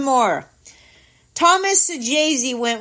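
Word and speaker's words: Saggese: I even went out of my way and looked up how to pronounce this kid's name just in case Tito Luna was here to let me know. Now, his name is Sajazi.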